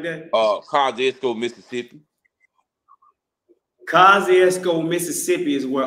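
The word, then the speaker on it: Kosciusko: every class what's what's the city how you pronounce the city that she uh she came from who uh o Winfrey yeah kostco or something like that oh kesco Mississippi kesco Mississippi is where OA rerey is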